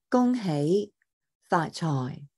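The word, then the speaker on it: 恭喜發財: In Cantonese, the pronunciation is Gong, Gong Hei Fa Choi. So you're going 1, 2, 3, 4, right? The gong hei fa choi, right? And dropping down at the end for choi.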